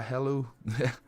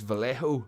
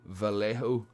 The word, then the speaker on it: Vallejo: pronouncing that right the hello or no it's vallejo vallejo there i got it right yeah those are those